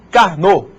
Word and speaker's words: Karnaugh: através dos mapas de carnô. Esse nome esquisito aí a gente pronuncia Carnô, né?